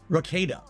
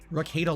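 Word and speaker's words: Rekieta: Rakita. Rakita Law.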